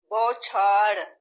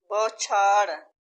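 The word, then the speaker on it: بوچھار: जबर है, बलबूता, बलबूता, बौछार, बा के ऊपर जबर है, बौछार, बौछार, बौछार, भनक, भनक, वो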